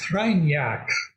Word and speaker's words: Kreinar: It's pronounced Kreinar, Okay.